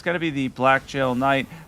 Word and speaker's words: Blackgaol: going to be the Blackgaol Knight. I believe it's pronounced much like the Everjails.